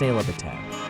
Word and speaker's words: Sehlabathebe: Sehlabathebe, Sehlabathebe, pronounced Sehlabathebe, means shield of the plateau.